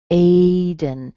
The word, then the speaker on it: Aiden: Aiden. So A-I-D-E-N. A is strong, and then dun has a schwa in it.